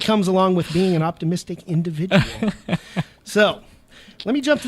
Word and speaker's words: Optimiztiq: in the Sacramento area I don't think but optimistic now for people that are listening that aren't